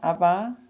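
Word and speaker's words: Abba: 아바 father 아빠 아버지. 영어에서는 자음 두 개가 이렇게 세게 발음하면 안 돼요.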